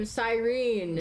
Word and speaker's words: Sirene: No, that's an English name. Sirene.